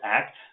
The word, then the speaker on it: ACT: at least one basic act intervention in this talk so what is that it literally stands for acceptance and commitment therapy it's pronounced act because it's an action based therapy if you call it